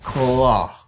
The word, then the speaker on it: claw: And next thing is claw. Claw. W a pas prononcé dans le mot ça. Claw.